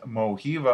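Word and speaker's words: Mojiva: you check out in moby another one is mohiva i believe is how you pronounce it it's m-o-j-i-v-a they have different mobile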